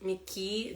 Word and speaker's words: Mickey: Mickey Mouse yeah again the word ending with E and Y you say just Mickey this case Mickey Mickey